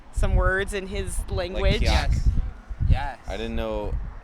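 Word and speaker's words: qajaq: kyak. Yes. I didn't know. It was Kayak is kyak. kyak. Yeah. Kyak. Kyak. Kyak. Kyak. Kyak. Yeah. Instead of kayak.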